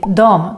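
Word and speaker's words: dem: the word them most people would just say Dom to this word as well for example for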